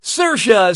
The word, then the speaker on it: Saoirse: How do you pronounce, her name? Saoirse Ronan, Saoirse Ronan, Saors Ronan, or Seorais Ronan? Okay, what'd you pick? Saoirse says that's the correct way to say her name.